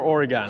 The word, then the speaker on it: Oregon: Is it Oregon or Oregon?